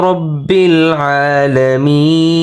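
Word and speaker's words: رَبِّ الْعَالَمِينَ: রবা জবর রব বালাম জির বিল রব্বিল কিন্তু দেখেন মাঝখানে কিন্তু একটি আলিফ আছে, আলিফের উচ্চারণ কিন্তু হবে না, সরাসরি লামের উচ্চারণ এখানে হবে রব্বিল।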